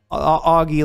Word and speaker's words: Augie: Augie, and it's spelled Augie, Augie like an auger, right?